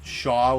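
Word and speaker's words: Shaul: like I wasn't sure if Shaw was the way to pronounce it, but she assured me yes, that's how you pronounce her name.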